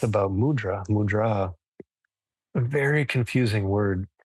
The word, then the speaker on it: mudra: means in this context the word mudra the emphasis goes on the second syllable it means seal and